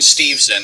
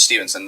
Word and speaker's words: Steveson: the thread i mentioned steveson and i do apologize for getting his name wrong it's steve's and not stevenson that's on me yeah